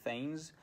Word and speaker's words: thegns: a little step sideways, I will pronounce those words in an English way, so I will say drengs, not drengir or drengar or whatever, and I will say thegns, as we say in modern English, but of course, if